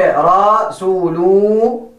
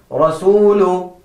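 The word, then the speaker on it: رسول: Do not say Rasulu. That is wrong. And also do not say Rasulu. That is also wrong. But the correct way to recite that is Rasulu.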